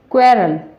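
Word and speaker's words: quarrel: तो इनमें आपको आपको देखा होगा कि यहाँ जो यू है उसकी वो जो साइलेंट है, यानी कि उसका जो उच्चारण है वो यहाँ नहीं हो रहा है।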